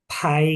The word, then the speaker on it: pai: Kalau P sama AI, ya bacanya tambahin H, pai, Hmm.